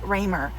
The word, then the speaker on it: Kemberly Ramer: name correctly um because it's k-e-m instead of k-i-m um which i thought was unique um and then how to print her last name is raymer so let's get started